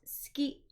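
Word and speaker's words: 好き: first one here is Suki which is usually pronounced ski the U is dropped if you watch anime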